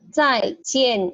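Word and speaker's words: 再见: Nah, zai jian ini dua-duanya nada keempat ya, jadi zai jian.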